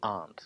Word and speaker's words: aren't: one are not aren't most native speakers will drop the are and I will say aren't like my uncle and my aunt so try to you